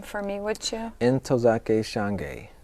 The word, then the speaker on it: Ntozake Shange: Ntozake Shange. Ntozake Shange.